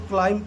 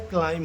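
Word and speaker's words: climb: बहुत लोग इसको क्लाइंब पढ़ते हैं, लेकिन इसका असली प्रोनाउंसिएशन क्या होता है? क्लाइम होता है।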